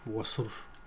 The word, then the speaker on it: wasur: So this is called wasur, and this is how you should pronounce it, wasur, right?